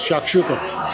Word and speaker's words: shakshuka: This is now Israeli Mediterranean and the prop proper way is shakshuka.